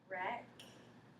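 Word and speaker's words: wrecks: read yours i have rex good i like how you made that w silent because it has an r right after it from crumb remember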